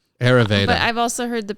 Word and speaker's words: Ayurveda: So spell it. Ayurveda. Ayurveda.